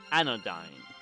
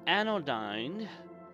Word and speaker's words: Anodyne: dad a nerd a anodyne yes a thing thanks to a little MPC in the game I know you the name rhymes with an ode to dine but anyway like I